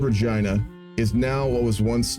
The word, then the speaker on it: Regina: honestly I would still say that Regina is pronounced Regina that's how the majority people from the city